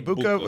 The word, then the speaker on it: Egbuka: Ikbuka? Ikbuka. Emeka Egbuka against Tampa Bay.